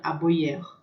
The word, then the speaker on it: aboyer: O Aboyer, a gente percebe que o I vai ter som, né? O Y vai ter som de I, né? E vai ser um I um pouco mais sonoro. Aboyer.